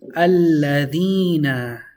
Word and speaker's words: الذين: Alladhina. We have a double lam. The shadda is on the lam, so one lam takes sukun, the other lam takes fatha.